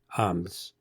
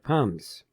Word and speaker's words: IPUMS: and actually the uh the mug pronounces it different it's Iams rather than iums okay what is what